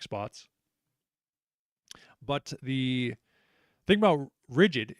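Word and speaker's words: RIDGID: But the thing about Rigid, it's pronounced Rigid, but is intentionally, whether it was a marketing thing or what have you, they intentionally misspelled it as Ridg, Ri.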